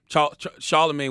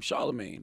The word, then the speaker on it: Charlamagne: a cool last name Charlemagne but I just felt it wrong I supposed to do i pronounced it so instead of CH AR le it was CH AI la and then like the